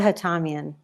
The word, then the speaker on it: Hatamian: How do you pronounce it, please? It's Hatamian. Hatamian, okay.